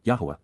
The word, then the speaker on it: Yahweh: Yahweh, Yahwa, the proper pronunciation of Yho, God's personal and proper name